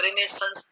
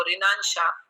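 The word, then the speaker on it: Renaissance: World famous dictionary है, उसमें इसका प्रोनाउंसिएशन रिनेसेंस दिया, क्योंकि इसकी वजह से यहाँ हमारे यहाँ बड़ा कंट्रोवर्सी हो गई थी, क्योंकि कॉलेज में जो टीचर्स थे वो रिनाशाह और ऐसे कुछ प्रोनाउंसिएशन करते थे.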